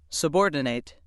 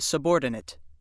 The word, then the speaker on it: subordinate: Which pronunciation you use depends on how the word functions in a sentence. If word 17 is used as a verb that means to put in a lower or secondary position, it is pronounced subordinate.